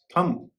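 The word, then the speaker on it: thumb: नियम यह है कि किसी शब्द के अंत में अगर एम और बी हो तो उस स्थिति में बी का उच्चारण नहीं होता है।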